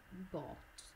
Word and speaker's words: bought: Perché ci sono, c'è questa combinazione strana di lettere nel mezzo che non si legge bought, ma si legge semplicemente bought.